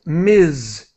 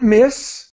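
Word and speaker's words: Ms.: you with two words this is Miz it's pronounced Miz now remember we're talking about a woman and so so this is not miss it's it's not an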